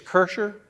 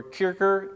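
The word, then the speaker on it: Kircher: very early print by a tenacious cursor or kicker depending on which way you like to pronounce it it's from his second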